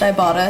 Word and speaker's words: Ibotta: is called ibotta and it's pronounced ibotta because it's like I bought I bought basically like getting